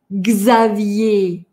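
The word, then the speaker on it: Xavier: Есть буква «x», которая по-разному звучит периодически, но сейчас она звучит как «гз». «Гз». «Гзавье». «Гзавье». Имя такое – «Гзавье».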